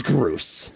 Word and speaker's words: Groose: His name is Groose. How do you spell it? Okay, so spell goose, Okay. but add an R after the G.